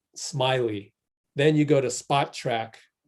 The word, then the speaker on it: Spotrac: then you go to Spot Track, which is the way it's spelled except without a K, Spot Track, SPOTRAC.